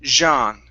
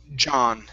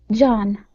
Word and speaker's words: John: with John, you said Jean, using a J sound. That's a very French way to pronounce that. So here, the J is pretty tough and it's short.